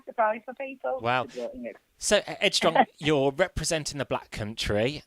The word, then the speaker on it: Ed Strong: Ed Strong, spelled like the mum's name. Yeah. So it's not Headstrong, it's Ed Strong, ED Strong.